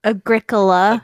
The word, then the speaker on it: Agricola: Ooh, I love Agricola. Is how it's pronounced.